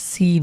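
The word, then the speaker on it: سين: Soft হবে যেমনভাবে আমরা সিন উচ্চারণ লক্ষ করুন সিন কিভাবে উচ্চারণ হয়। এই লেটারটার নাম হলো সিন। ইংরেজিতে আমরা এস এস যেভাবে উচ্চারণ করি ঠিক সেভাবে উচ্চারণ করব।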